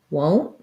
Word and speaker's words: won't: And so that has the O vowel, won't, and then a stopped T generally.